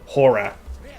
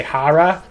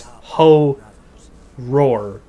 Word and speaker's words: horror: So horror. Some people say hara. That's not really how we say it. It's horror. He and us are not so different. So rather than ending that first syllable with an R, we think of it as like beginning the second syllable with one. A band So instead of horror or, it's ho roar. If that makes sense.